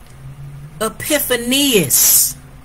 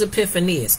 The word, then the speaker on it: Epiphanius: According to the, watch this, Christian historian, a person who lived in real time, Epiphanius. That's his name. Who was Epiphanius? Epiphanius.